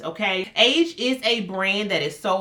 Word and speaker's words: Aje: Because with this age, I just found out how to pronounce this brand, by the way. I have been saying AJE for years, but I think it's Age.